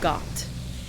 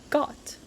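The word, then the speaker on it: Goht: I introduce you to got um that is goat spelled with an H so it's got Mass mechanical monster it's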